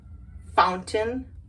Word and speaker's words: fountain: But when most people pronounce it with the stop T. The stop T, like, hey, T, don't come over here. No, it's where we kind of swallow the T and we just say curtain, curtain, fountain, fountain, or mountain, mountain.